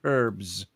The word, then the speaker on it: herbs: Could you imagine, or as you say over there, herbs? Herbs, yes. H is silent. The H is silent over here.